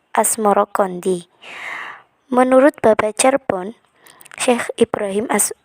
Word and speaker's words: Asmoroqondi: Sebutan itu mengikuti pengucapan lidah Jawa dalam melafalkan As-Samarkandi yang kemudian berubah menjadi Asmoro Kondi.